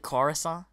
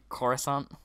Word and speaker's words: Coruscant: Wonsup, he wants to play on, how do you pronounce it, Croissant or something? When he really wants to say Coruscant.